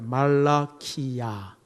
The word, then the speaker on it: 말라키야: 원래는 말라기가 아니고 따랐다 말라키야. 원래 이름은 말라키야입니다. 말라키야는 여호와의 사자라고 하는 뜻입니다.